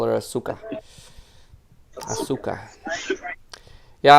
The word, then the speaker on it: Asuka: I like to call her Asuka. Asuka. Yeah, I'm also from Serbia, so we don't spell every letter. Each letter has a sound. So her name in Serbian would be right.